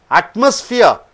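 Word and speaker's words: atmosphere: அட்மாஸ்பியர் அட்மாஸ்பியர் என்றால் என்ன? மூன்று சிலபல் இருக்கிறது, மூன்று சத்தங்கள். ஆட்டுக்கு அழுத்தம் கொடுக்குறீங்க.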